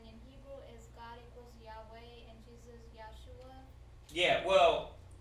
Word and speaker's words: Yahweh: So, you know, the proper way to say it is Yahweh and Yahweh Shai. Okay? That's the proper way to say it. Yahweh and Yahweh Shai.